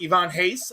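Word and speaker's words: Ivan Reis: Ivan Reyes his name is pronounced Ivan Hayes.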